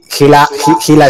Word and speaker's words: Gila: Y Gila Store, mi madre se llama Hilaria. Entonces cogí Hila y me gusta pronunciarlo Gila para que...